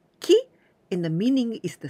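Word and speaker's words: 季: some vocabaries related using these candies this candy pronounced Ki and the meaning is the season the stroke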